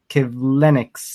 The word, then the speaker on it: Kivlenieks: the passing of Columbus Blue Jackets goaltender Matiss Kivlenieks, I believe it's pronounced. Kivlenieks, yes.